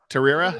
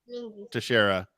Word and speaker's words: Teixeira: So yeah, Mark Terrera, is that how you pronounce it? Teixeira.